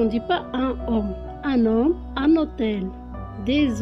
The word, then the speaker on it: homme: En début du mot, il s'appelle H muet. On va faire l'apostrophe, la liaison et des formes spéciales pour l'adjectif masculin. Exemple, les mots homme, hôtel.